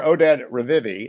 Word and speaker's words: Oded Revivi: Mayor Oded Revivi, I hope I'm pronouncing that correctly, Mayor, runs Efrat.